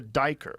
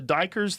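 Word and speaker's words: duiker: It's called a diker. I think it's called a diker, D-I-K-E-R. I think that's how you say it.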